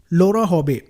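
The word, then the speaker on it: Laura Sjoberg: से चूक जाती है लोरा हबे सजो बर्ग लिखा है लेकिन स्वीडिश नेम है तो इसको जो प्रोनाउंस किया जाता है वो लोरा हबी कहा जाता है तो इनका जो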